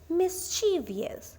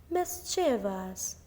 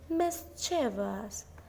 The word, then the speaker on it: mischievous: it's often mispronounced as mischievous with an extra syllable but that's incorrect the correct pronunciation of this word is mischievous mischevous the stress is on the first syllable Miss now say it